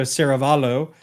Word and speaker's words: Saravallo: I definitely mispronounced that. So Saravallo.